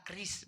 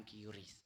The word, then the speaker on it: QRIS: Tapi bacanya ternyata Kris bukan QRIS. Kris bacanya.